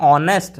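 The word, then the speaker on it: honest: लेकिन जब इसको पढ़ेंगे ऑनेस्ट मैन, तो इसका एच बेटा साइलेंट रहता है, हम इसको पढ़ते हैं ऑनेस्ट, साउंड आया ओ, ईयर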